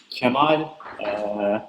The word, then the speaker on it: Kemal: talk about crystal and c'mon it's really a pronounced or you know foreigners but it's pronounced like Gemma I don't know why but Spanish people pronounce it perfectly but the others are